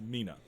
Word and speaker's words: Mina: But she introduced herself as Mina. Yeah. Like that's how she introduced herself, which means it's how she pronounces it. In her own brain, that's how she says it.